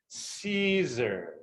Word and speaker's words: Siser: for all of you is how to properly pronounce caesar so the s-i-s-e-r is say with me season